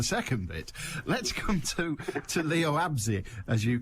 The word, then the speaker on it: Leo Abse: Let's come to Leo Absey, as you correctly pronounce it.